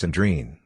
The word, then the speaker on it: Andriana: Unstressed os and is are often unpronounced, and terminal as may or may not be, so that Andriana, for example, is often pronounced Andreen.